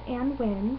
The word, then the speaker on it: Annwyn: Hi, so I am Anwen, and this is the first video blog for Wicked Wednesdays with the Water Witch. So, just a quick introduction. My name is Anwen, which is spelled Anwyn. If you drop the Y,